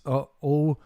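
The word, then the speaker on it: ʻOumuamua: what we're talking about, how do you pronounce this? Oumuamua. I think it's Hawaiian for scout from afar.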